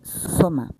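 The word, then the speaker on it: σῶμα: A tradução de corpo na pronúncia grega é soma.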